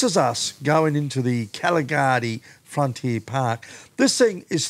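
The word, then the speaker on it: Kgalagadi: front II part is Caligari is the way the local Bushman pronounce it okay oh we call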